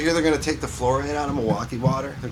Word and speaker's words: fluoride: stopping the Florida relations or whatever it's called. Florida. Fluoride.